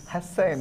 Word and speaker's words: Husain: No, see, he says there's a different letter in Arabic. How do you? Hussein. Hussein. Hussein.